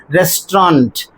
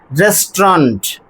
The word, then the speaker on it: restaurant: But in order to get the correct pronunciation we have to drop a and u these two vowels and then we have